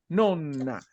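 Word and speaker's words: nonna: Cómo pronuncias esa palabra Porque si tú si tú la pronuncias sin una n en italiano entonces pasa a ser novena es diferente es diferente tienes que decir no nona no no no es novena nona separando un poquito allí siempre las dobles consonantes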